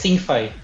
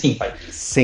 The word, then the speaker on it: Syncfy: Sí, es ThinkFi. ThinkFi. Sí, digo, como quiera, digo, se puede pronunciar como le entiendan, ¿verdad? Pero es ThinkFi.